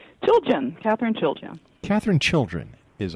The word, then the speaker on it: Chiljan: Chiljan. Chiljan. Chiljan. Yeah. All right. Chiljan. Chiljan, right. Chilly in January. All right.